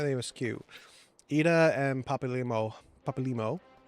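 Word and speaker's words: Papalymo: Papal Limo. Papal Limo.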